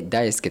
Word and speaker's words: 大生志: すけど、大きい、生きる、志。と書いて大輔と言います。